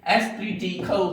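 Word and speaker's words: esprit de corps: और इसका इंग्लिश में इसका जो फ्रेंच वर्ड है, इसका प्रोनाउंसिएशन एस्प्री डी कॉर्प होता है, जिसको इंग्लिश में टीम स्पिरिट डायरेक्टली कहा जाता है।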